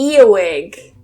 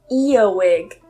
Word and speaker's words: earwig: The next one is to earwig. Earwig. So I don't pronounce that R. Remember, in British English, we don't normally pronounce that R.